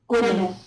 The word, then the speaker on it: Gwynedd: Gwyneth. Gwyneth? Gwyneth. So two Gwyneth? D's is a TH. Oh, it's a th? Yeah. Not a th? Gwyneth.